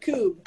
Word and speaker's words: Kubb: Like tube, but Coob.